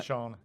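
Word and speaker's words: Seána: Is it not Shauna? Shauna. Oh, it is Shauna. Oh, like sorry. it's in like Shauna, but like it's spelled SEA and...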